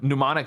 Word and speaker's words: mnemonic: at the end um mnemonic is a fun one it has a silent M at the beginning yeah it's m n